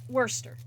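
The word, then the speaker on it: Worcester: is on us right we're trying to pronounce every single one of those letters cuz we think that's what you're supposed to do and then there's like Worster you know it throws us off we're we you know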